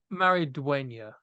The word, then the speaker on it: Maridueña: it's it's Cholo Maridueña is his name.